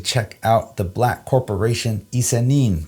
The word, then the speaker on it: ISE-NIN: out the black corporation isanim that is how you say these characters here in case you didn't know i-s-e-n-i-n I didn't know